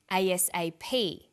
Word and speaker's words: ASAP: Notice that each letter in the abbreviation is pronounced separately, but the last letter is pronounced more strongly because it carries the primary stress. So we say USA, ASAP, ABC, and TV.